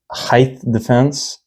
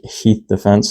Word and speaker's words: Height Defense: Uh this is from Height Defense. I I uh found out that I was pronouncing it wrong in the first video. It's height defense, not Heath Defense that I was originally calling it.